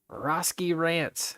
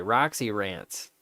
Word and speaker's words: Roxy Rants: inside of a refrigerator I made it Roski rants actually fixed it so that I know how to I can pronounce it properly Roxy rants I like that better it's so much easier for me to understand because it looks like I mean there is an X in your name it looks like there